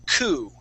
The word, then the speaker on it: coup: when you see this this would be coup now if you're talking about a twodo car okay that would have an e at the end and yes we would pronounce that as Coupe like a twoo coupe okay all right remember